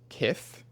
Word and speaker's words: Kith: Ronnie Fee, the founder of Kith, I pronounced it Keith in my Tik Tok and I got a lot of for that.